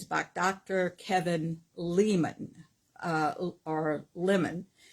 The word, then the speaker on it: Leman: Kevin Leman, or Lemon. I guess it's Lemon. And it's not spelled like the fruit. It's Lemon.